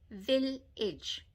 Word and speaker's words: village: I, village. Edge. Yes, that A is pronounced as an I. Village, not age. We don't say village, we go village.